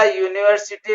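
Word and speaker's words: university: इसी तरह यूनिवर्सिटी में यू वावेल है लेकिन इसका साउंड कंसोनेंट है, इसलिए यूनिवर्सिटी से पहले ए यूज होगा.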